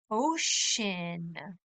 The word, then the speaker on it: ocean: or Smyrna town ocean ocean we live near the Atlantic ocean the Atlantic Ocean is on the East Coast you try the word ocean good job the sea almost sounds like an S Ocean east coost you'll